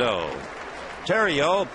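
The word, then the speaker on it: Theriot: ball one one and O Tero spells that name t h e r i o t and with that silent T you know he's got to be from Louisiana the strike one pitch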